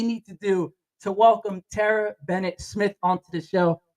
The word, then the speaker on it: Terrah: It's Terra, and I know she's beautiful, wonderful. Terrah. They're like Terrah. T-A-H. Look at But you that. know what? You can spell it any way you like. I'm gonna spell it like this: Beautiful, because I can see